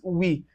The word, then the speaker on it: oui: So you can see the IPA written there, but we call it oui. Now, what word can you find it? You can find it in word like o u plus a vowel.